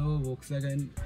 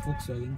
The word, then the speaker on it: Volkswagen: तो बाद में पता चला कि पोलो वोक्सवैगन एक्चुअल प्रोनाउंसिएशन होता है फोक्सवैगन, जर्मन टेक्नोलॉजी है तो फोक्सवैगन ही होता है बेसिकली।